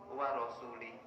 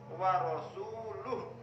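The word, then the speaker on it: وَرَسُولُهُ: Terus diajari Sayyidina Ali bacanya begini. Innallaha bari'um minal musyrikina wa rasuluh. Itu yang betul.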